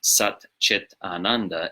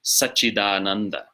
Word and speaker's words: Sac-cid-ānanda: So when you're pronouncing it as a compound, it's not Sat, Chit, Ananda, it's Sac-cid-ānanda, as you see it written. Sac-cid-ānanda. So the T of Chit becomes a D, before following voiced vowel, and the T of